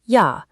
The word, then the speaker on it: ja: In German, it makes an English Y sound, so the word for yes is pronounced ja.